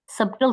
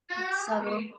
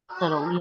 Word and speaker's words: subtle: That's how you read it, इसमें B silent है, सटल, सबटल तो नहीं पढ़ते इसको, Subtle. सटल, या।